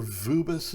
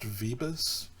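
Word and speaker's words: Vööbus: So, quoting author Vubis is the way his name is spelled. I've heard that it's pronounced Vebus.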